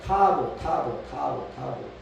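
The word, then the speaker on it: תָּו: 히브리어는 영어의 T 비슷하게 써놓고 타브 또는 타우라고 발음을 한다는 거예요.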